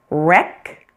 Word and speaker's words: wreck: Sometimes you'll find words that begin with WR. In this case, pretend it is just an R. That W is silent.